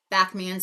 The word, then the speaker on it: Backman: Backman spelled like it sounds.